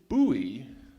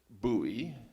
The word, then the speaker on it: Bowie: And then somebody later on pointed out that Jim Bowie pronounced it Bowie. And then later on, he noticed that several of his British countrymen were saying Bowie. And in a very interesting interview in the late 80s, he was quoted as saying something along the lines of, "For years I said Bowie. I occasionally say Bowie now, but honestly, as a performer, I don't care how you say it, so long as you say it."